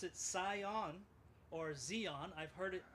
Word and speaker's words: Sion: So if you're a German, you pronounce it Sion. And if you want to use it as the original Sion, you can call it Sion, of course. But Sion is okay as well.